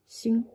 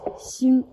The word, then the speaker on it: 心: You pronounce it as xing. X-I-N. This is a pinyin way, the first tone.